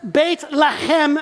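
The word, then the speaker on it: בית לחם: they pronounce it there, if you want to pronounce it in Hebrew, here's how you say it.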